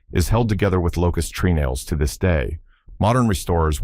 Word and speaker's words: treenail: The fourth secret is treenails, pronounced trunnels.